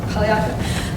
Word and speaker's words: Polyanka: How do you say that name? Polyanka? Polyanka. The Finance Committee discussed the